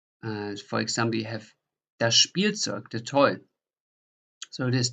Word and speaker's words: Spielzeug: So that is in German a sh, p. So you pronounce like a SCH and then a P in addition. For example, you have das Spielzeug, the toy.